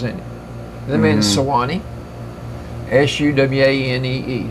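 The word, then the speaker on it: Suwanee: Can you think of a river that's got 3 syllables in it? The man's Sewanee. S-U-W-A-N-E-E. Sewanee.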